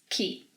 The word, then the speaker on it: que: First of all, remember that 'que' may also be pronounced as 'quee'.